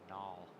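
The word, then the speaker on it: gnoll: No, it's null.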